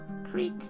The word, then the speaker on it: creek: a sus wall creek creek rhymes with freak what's that sound what's